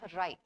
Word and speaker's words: wry: Now, how do you pronounce this? It's called wry.